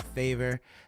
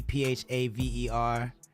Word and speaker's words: Phaver: Also, check out Favor. That's spelled with a P, Phaver.